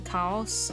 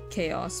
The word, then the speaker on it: Kaos: all of them uh the preferred pronunciation is Cows as in cows but also I enjoy being called chaos because it's a fun little name you know it's like